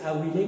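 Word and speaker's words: abile: Et en araméen, ceux qui pleurent se dit « Awilé », prononcé Awilé, même si ça s'écrit A-B-I-L-E.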